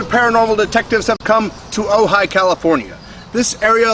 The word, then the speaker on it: Ojai: Ojai is from the Chumash word. It's Ojai is the real pronunciation.